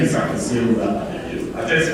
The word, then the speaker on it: Akwasi Ababio: My name is Akwasi Ababio. I just, for the purposes of pronouncing it, the way it's pronounced in Ghana, I like to say that myself. And it's Akwasi Ababio.